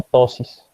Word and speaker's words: ptosis: ¿Quién sabe qué es la ptosis? Se escribe con P, ptosis.